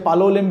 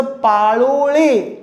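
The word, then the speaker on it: Palolem: फार famous beach आहे पालोवलेम beach आहे ते पालोवले नाम नाहीये त्याचं पालोळे असं नाव आहे अच्छा पेडणे गावाचं नाव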